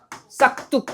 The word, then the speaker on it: 싹둑: 싹뚝. 이렇게 발음되는데 기억 받친 다음에 뚝이라는 소리 음전을 나타내는데 앞에 뚝이 없어요.